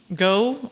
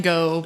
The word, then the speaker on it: Gough: It's spelled like Van Gogh, but I now know that Van Gogh is not pronounced Van Gogh anywhere but in the United States. So yeah, that's right. So Van Gogh, or this Michael Gough, or Go, or Gow, who knows?